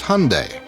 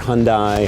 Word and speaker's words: Hyundai: It's Hyundai, like Sunday. We hear Hyundai, Hyundai. Even my mom mispronounces it, unfortunately.